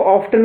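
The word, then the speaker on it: often: ये जो है वर्ड है इसको ऑफ्टन कहते हैं, ये प्रोनाउंसिएशन चेंज हो गया इसका।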